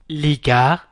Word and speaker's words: les gars: إذا نقول les gars وتكتبوا les gars. les gars. إذا كتبتها les gars ولكن نطقها les gars.